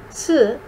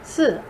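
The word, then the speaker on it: 四: In apartment buildings and high rises, they don't have a fourth floor because the word for, si, sounds like the word for death, si.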